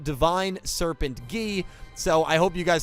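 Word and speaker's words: Divine Serpent Geh: 25 years of my life calling this monster divine serpent gay i am not going to be doing that in this video because it is actually pronounced divine serpent gee so i hope you guys had your laughs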